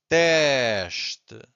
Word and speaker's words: teste: So again, S before a consonant, it's a sh. 2 syllables here, we have to stress the first one, so it's teste. So we stress this one, and the second one is weak. Not silent, but weak. Teste.